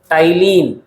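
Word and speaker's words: ptyalin: नाम दूसरा होता है टलीन। पी साइलेंट होता है। हां पी साइलेंट होता है और इसको हम बोलते हैं टलीन।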